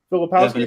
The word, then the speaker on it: Filipowski: Filipowski.